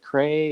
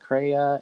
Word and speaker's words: CREYE: was like is it cray is it craya and then when he said cryo was kind of like